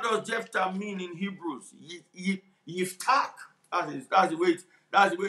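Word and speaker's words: יפתח: Yiftach, that's the way it's pronounced.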